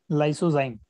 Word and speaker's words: lysozyme: Spelling बोलता हूं मैं इसकी, LYSOZYME। वापस से रिपीट करता हूं, LYSOZYME, लाइसोजाइम।